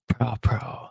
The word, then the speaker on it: Praewpraw: Praewpraw. That's how you pronounce his last name.